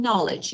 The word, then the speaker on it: knowledge: a silent letters in knowledge you know there is no K here or we just pay